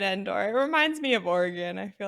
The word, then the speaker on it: Oregon: no no no no I made fun of you for saying origon it's Oregon yeah it's not or you're